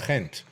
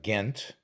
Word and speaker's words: Ghent: it's in uh i've i've learned that it's pronounced gent or as we americans call it uh ghent um it is a uh a beautiful day